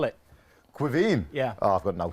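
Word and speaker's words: Caoimhín: great goalkeeper irish goalkeeper his name is very difficult to pronounce i know to pronounce it because my wife is from an irish background but when you've got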